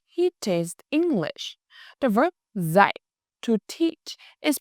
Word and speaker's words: dạy: The verb dạy, to teach, is pronounced dạy.